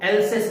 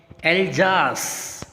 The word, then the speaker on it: Alsace: इसको कई बार मैंने देखा बच्चों को एल्सेस बोलते हुए, क्या बोलते हुए देखा, एल्सेस। इट इज नॉट एल्सेस। ठीक है, क्या है, एल्जास। What is this, एल्जास।